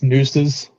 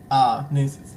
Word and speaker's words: Nxxses: It's Nooses. Nooses. Okay, Young Nooses.